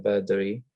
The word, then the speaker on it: Verdery: Beri. Am I pronouncing your last name right?